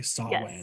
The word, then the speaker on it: Samhain: Samhain. Samhain. I think Samhain. I was like, M's silent, and it's not Hain. No. Everybody was saying it with a W, so I was like,